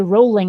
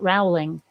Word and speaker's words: Rowling: Well, I've actually had someone thank me for pronouncing rolling properly, because it is J.K. Rowling, not Rowling.